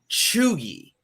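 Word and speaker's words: cheugy: to do it but the first word is chugi right c-h-e-u-g-y chugi can you tell me what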